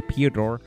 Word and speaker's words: Piotr: Piotr, let me pronounce that right, because I'm saying Piotr and the T is after the O. Piotr really just showed an